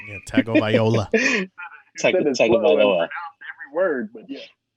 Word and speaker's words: Tagovailoa: Yeah, Tagovailoa. Tagovailoa. Every word, but yeah, every syllable.